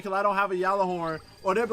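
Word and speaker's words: Gjallarhorn: People's like, "You cannot join unless you have Galah Horn," pronounced Yalah Horn.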